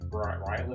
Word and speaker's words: Ryland: You're talking about uh Oh, like I loved How do you pronounce his name? Ryland.